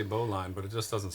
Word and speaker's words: bowline: Bowline? That's Is that how you say it? That's how you pronounce it.